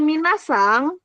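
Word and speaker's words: みなさん: ya semuanya pakai minat tapi kalau minasang minasang itu ya minasang itu dia pakainya e n-nya enggak usah double minasang gitu ngerti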